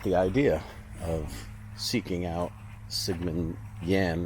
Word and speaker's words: Sigmund Jähn: idea of seeking out Sigman Yan really is the right way to pronounce it I believe zman Yan's grave